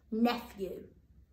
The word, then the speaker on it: nephew: nephew remember that being one of those naughty naughty digraphs that doesn't sound like it looks nephew remember to pause that